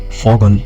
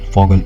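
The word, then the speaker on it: Vogel: go then then uh in German they say V V is for V is for fogal fogal is bird and F theist father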